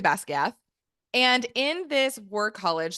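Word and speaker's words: Basgiath: And there is, in the land of Navarre, there is a war college, Basquiat or Basquiath. I believe that's how Rebecca Yaros pronounced it in her interview, Basquiath. I'm going to say Basquiath.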